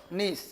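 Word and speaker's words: gneiss: Granite और नीस। इसका निर्माण ग्रेनाइट और नीस, ग्रेनाइट और नीस चट्टान से हुआ है। इसका निर्माण ग्रेनाइट चट्टान, नीस GNSS होता है, जी साइलेंट होता है।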